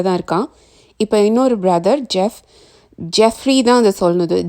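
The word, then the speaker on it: Geoff: இப்போ இன்னொரு brother Jeffrey தான் அதை சொல்லணுது. GEO இருந்தால் கூட இதை ஜாஃப்னு ப்ரொனவுன்ஸ் பண்ணக்கூடாது, இது ஜெஃப் தான்.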